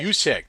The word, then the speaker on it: Juszczyk: Last pass was an overthrow to you can pronounce that for me, Brian. Juszczyk? Juszczyk? Juszczyk.